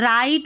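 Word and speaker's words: write: अब देखिए डब्लू, डब्लू और आर जब साथ में रहते हैं ना तो डब्लू साइलेंट रहता है। राइट और रॉन्ग पढ़ेंगे तो यहाँ पर डब्लू का उच्चारण नहीं हो रहा है इन दोनों स्पेलिंग्स में।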